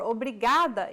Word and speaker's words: obrigada: it means thank you brigado if you're a male or obrigada if you're a female Obrigado obrigada keep repeating